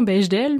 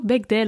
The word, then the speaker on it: Bechdel: test de bec d'elle qu'on prononce souvent belge d'elle mais c'est plutôt bec d'elle en vrai c'est un test qu'on